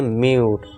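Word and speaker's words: mute: पहले रूल के एग्जांपल देखिए, इसे क्या पढ़ेंगे, म्यूट।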